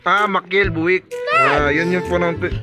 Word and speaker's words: Machiel Buijk: bu buj Ayan ano ba Ong ano nito pronunciation nito boss mael buk Ah maiel buk yun yung pronunciation pala nito Ayan Tapos ito